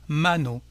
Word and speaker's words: mano: qui est une voyelle, on accentuera donc l'avant-dernière syllabe, qui ici, bien entendu, est la première. On dira donc la mano, una mano.